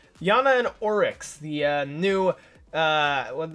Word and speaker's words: Iana: still live at home versus another noun to pronounce her name it's Yana and aurochs the new when they say she's